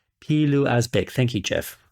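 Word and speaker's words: Pilou Asbæk: What's interesting is that across those first three films, Palau Asbæk, if I'm pronouncing that actor's name correctly. I actually Googled his name. The correct pronunciation, and I wrote this down, is Pilu Asbæk. Pilu Asbæk.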